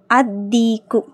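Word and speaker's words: الديك: next அதிக்கு அதிக்கு லாம் உச்சரிக்கப்படக்கூடாது ஏன்னா தாங்கற தால்ங்கிறது ஷம்சியாவுடைய எழுத்து அதீக்கு அந்த சேவல் த ரூஸ்டர்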